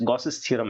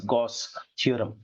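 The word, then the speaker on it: Gauss theorem: Sometimes गॉसेस थ्योरम ऐसे भी कहा जाता है, बट I usually pronounce it एज गॉस थ्योरम, जो कि फ्लक्स के कैलकुलेशन में हमारी हेल्प करता है।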